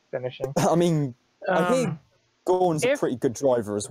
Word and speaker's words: Gaughan: Yeah, Brendan Gaughan, yeah. Alright, okay. Yeah, I was just wondering. Gaughan is in the word gone, yeah. That's how you pronounce his name.